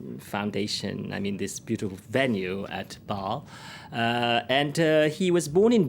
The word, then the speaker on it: Basle: pronounce it. I say Basle, All right, but then.